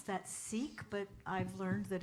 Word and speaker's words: Sikh: the service today with a chant from the Sikh tradition and some people pronounce that Sikh but I've learned that it's actually pronounced Sikh